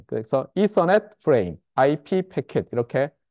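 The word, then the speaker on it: Ethernet: 일단 제일 먼저 고민이 되는 것이 제가 이서넷 하니까 여러분이 이더넷 아니냐 이렇게 얘기를 하는데 저도 찾아봤어요. 저도 저기 이서넷인 것 같은데 어디서 들은 거는 그래서 찾아보니까 표준 발음은 이서넷이에요. 이서넷. 근데 한국에서는 압도적으로 이더넷이라고 하는 것 같아요.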